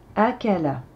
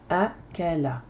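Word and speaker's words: أكل: veut dire manger dévorer Akala Akala correction nombre de syllabes première syllabe deè syllabe la trè syllabe trois syllabes de son cours donc pas de lettre de prolongation Alif avec la Hamza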